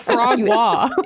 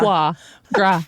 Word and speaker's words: foie gras: Um You said frog wah. Yeah, you added like an R.